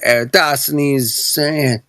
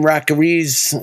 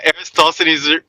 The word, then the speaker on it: Eratosthenes: Back then, it was Eratosthenes. They always mispronounce his name, too, man. They're like, fucking Rockeries.